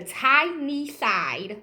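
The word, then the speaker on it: Tyneside: at that time aka the time not the tiny side stranger Strangler okay if you hear you say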